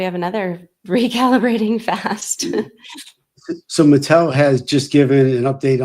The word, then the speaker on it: Mitel: Not to confuse with Mattel, the toy company. Mitel is the pronunciation.